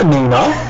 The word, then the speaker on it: Annina: myself burn called me I called you a Nina yes pronounced it correctly was the the the